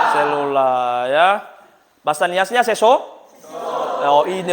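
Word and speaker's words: cellula: Nulisnya celula, bacanya selula, ya.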